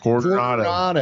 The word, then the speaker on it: Coronado: Roll your R like Coronado. Coronado.